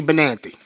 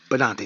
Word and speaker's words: Benante: Or Benante, sorry, I don't mean to say it like that. I'm from the East Coast. I'm gonna say Benante in a heartbeat because that's how we pronounce it, growing up.